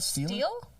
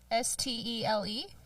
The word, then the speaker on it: stele: Is it a stela? Stella? Steel? S-T-E-L-E? Well, it's Stele. Steel.